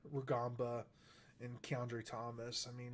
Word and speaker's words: Rugamba: Rugamba. Rugamba, and Keandre Thomas.